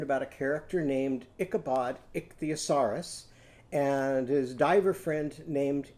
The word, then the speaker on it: ichthyosaurus: Go ick-thee, ick-thee. Now go down to your knees for head and shoulders, knees and toes. A-saurus, a-saurus. So now let's put that all together. Ichthyosaurus. So how many syllables in that word?